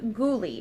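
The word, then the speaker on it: Goulue: and in the shade ghouly I think that's how you pronounce it g o u l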